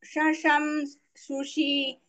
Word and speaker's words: शशं सुषि: शशं सुषि शशं सुषि Is a very tricky word. Shasham sushi, shasha sushi, all are very nearby letters in pronunciation. So you speak carefully. Shasham sushi, शशं सुषि शशं सुषि shasha, both sha, shasha, sa, sha.